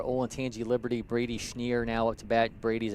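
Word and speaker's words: Schnierer: he said it's pronounced schneer it does not look like it says schneer but it says schneer there were a few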